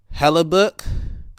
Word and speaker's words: Hellebuyck: I'm just going to name the guys that scored because our goalie here, Hellebuck, Connor Hellebuck or Buck. Huh? It's spelled Hellebuyck.